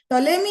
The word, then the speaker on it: Ptolemy: This is invented by Ptolemy. Here P is silent. Ptolemy ಅನ್ನೋ ವಿಜ್ಞಾನಿ geocentric model ಅನ್ನ first ಅಲ್ಲಿ ಏನ್ ಮಾಡ್ತಾರೆ, ಸೋಲಾರ್ ಸಿಸ್ಟಮ್ ಅಲ್ಲಿ ಫಸ್ಟ್ ಜಿಯೋಸೆಂಟ್ರಿಕ್ ಮಾಡೆಲ್ ಅನ್ನ ಪ್ರೊಡ್ಯೂಸ್ ಮಾಡ್ತಾರೆ.